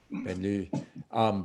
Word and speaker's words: banlieue: I don't know how to say it, but Banlieue. it's Banlieue. But it's which people, when you, an American concept of suburbs, Paris doesn't quite fit that model.